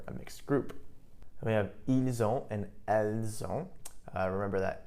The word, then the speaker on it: ils ont: So you have ils ont, notice the pronunciation, the S actually does get pronounced this time.